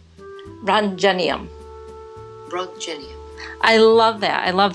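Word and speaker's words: roentgenium: this is one I've always struggled in its pronunciation run genium I love that I love that so you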